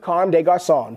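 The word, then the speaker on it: Comme des Garçons: little help from the box logos, both with Carme des Garçons. Pronounced Carme des Garçons.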